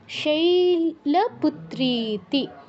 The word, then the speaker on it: শৈলপুত্রীতি: শৈল, শৈল, শৈতে একটু দীর্ঘ করতে হবে। পুত্রীতি, পুত্রীতি, ত্রিতে একটু দীর্ঘ। প্রথমম শৈলপুত্রীতি।